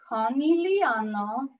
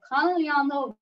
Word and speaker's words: Conegliano: In Italy, you pronounce all of the letters. So to say it slowly, it's Conegliano Valdobbiadene. So Conegliano Valdobbiadene Prosecco Superiore DOCG.